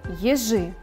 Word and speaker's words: ежи: На следующей картинке изображены ежи. Произносим слово «ежи». Ежи. Ударение падает на второй слог.